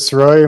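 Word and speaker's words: Srois: the record yes sir my name is soy my last name is spelled s r o i s what is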